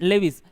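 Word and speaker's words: Lewis: Kossel and लेविस। कई लोग लुइस भी बोलते हैं, कोई दिक्कत नहीं है, लुइस बोलो लेविस बोलो, प्रोनाउंसिएशन कुछ भी हो सकता है।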